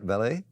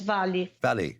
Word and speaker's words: Vale: you said Vale, is how you say it, Vale? Yes, Vale.